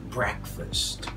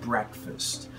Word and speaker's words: breakfast: Just like breakfast. We don't say break just because we see the word break. So it's breakfast.